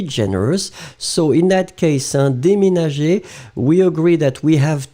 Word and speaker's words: déménager: So this is the reason why you will pronounce it dé and then me.